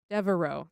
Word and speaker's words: Devereux: In 1993, in what was perhaps Boyle's most significant accomplishment as mayor, he promoted Greg Devereux. I'm pretty sure that's how you say it. It's French. Devereaux.